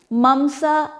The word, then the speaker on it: mamsa: Ras, or maybe I'll just spell it. R-A-S-A, ras. Rakt, R-A-K-T-A, rakt, which called blood. Mamsa, M-A-M-S-A, mamsa, which called muscle.